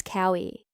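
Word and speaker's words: Kaui: My name is Cowie. In Hawaiian, each vowel is pronounced, none are silent.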